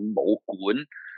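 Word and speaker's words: 武館: A Chinese kung fu school in Cantonese is called Mo Gun. So it's almost like Goon, Gun. Most people spell it as Quan, but it's actually not Quan. It's Mo Gun, means martial house or martial dwelling.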